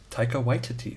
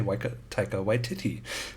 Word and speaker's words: Taika Waititi: Wait, and I recently heard how he actually pronounces it. Waititi. Taika Waititi. Because I would say Taika Waititi. But it's apparently Taika Waititi.